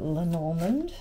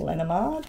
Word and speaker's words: Lenormand: get a couple of lenormand or lenimard whichever way you would like to pronounce that let's just see what